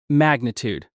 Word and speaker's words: magnitude: Magnitude. The stress is at the beginning. Magnitude. Magnitude.